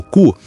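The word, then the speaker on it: 九: O número nove pronunciado cu, lembra a palavra para sofrimento ou tortura.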